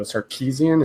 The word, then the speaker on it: Sarkisian: So Sarkisian, is that how you pronounce it?